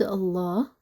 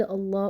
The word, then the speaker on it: Allah: in three different cases the first keys is if the word Allah or allahummah proceeded by a letter that has and here we're talking about the last pronounced letter we're not talking about the letter before the word directly because maybe that Slaughter is in pronounce it right so we're talking about the last pronounced letter before the word Allah or if this letter has landlord Allah or Allah is gonna be heavy some examples just as